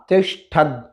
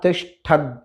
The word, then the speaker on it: तिष्ठद: इसी मंत्र में आगे आता है त्या तिष्ठद, तो वहाँ ती के बाद श और फिर ठ, त्या तिष्ठद, तो वहाँ ठ आया है, इसीलिए इसका उच्चारण श हुआ है।